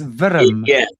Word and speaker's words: Wurm: That's spelled WURM, worm. But but what they're talking about is a serpent type thing. Yeah. That's how you pronounce it, Dennis. Virm.